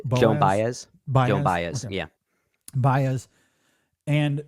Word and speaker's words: Joan Baez: Joan Baez.